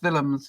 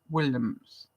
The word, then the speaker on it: Willems: Willems, I'm saying it that way because although it's spelled Willems, it actually is from the Norwegian, so it's Willems, not Williams. So Mo Willems said, if